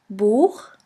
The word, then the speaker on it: Buch: After the letter A, O, U, and AU, it's pronounced like the guttural CH in the Scottish loch. Here we have the example of the word buch, which means book.